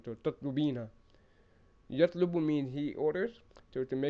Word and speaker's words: تطلبين: And remember, when you're using the singular feminine, you put you keep ta at the beginning and you add the ina sound at the end. So tatlubina.